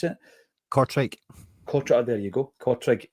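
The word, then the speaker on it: Kortrijk: Uh, Cottage, is that how you pronounce it? Cortri.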